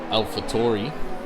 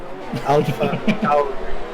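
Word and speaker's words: AlphaTauri: Soon to be Alpha Tori. He's No, not that Alpha level. Tauri. Tauri. Alpha Tauri.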